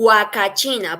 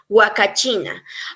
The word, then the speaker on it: Huacachina: yeah, because in Spanish, as we know, the H is silent. So in Spanish, it Yeah. would be huacachina.